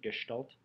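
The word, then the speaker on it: Gestalt: developed a theory called gestal psychology that's how you pronounce it gestal they're German right so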